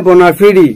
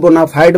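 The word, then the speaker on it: bona fide: बोनाफाइड है जिन्यून, बोनाफाइड इसे करेक्ट प्रोनाउंसिएशन है बोनाफिडी, बोनाफिडी रिजल्ट, बहुत ही जो सुपर एक्सीलेंट होता है उसे जिन्यून है, उसे हम बोनाफिडी बोलते हैं। बहुत से लोग बोनाफाइड बोलते हैं, ठीक है, लेकिन करेक्ट साउंड बोनाफिडी है।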